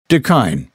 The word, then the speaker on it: da kine: beverage shop and that's what we opened up deine that's spelled d a k i n e it's